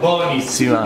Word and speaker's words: buonissima: Buonissima. Buonissima. But buonissima? Buona. No, buonissima. Buonissima. That's how it's B-U-O.